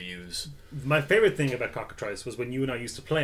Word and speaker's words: Cockatrice: Cockatrice. It rhymes with smock, okay.